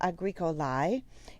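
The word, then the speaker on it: agricolae: first one is agricola agrico lai if you remember from your diphthongs a e in english we pronounce that with an i sound like an a long eye a greek a lie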